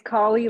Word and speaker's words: Kali: to pronounce your name it's collie like cauliflower I love that and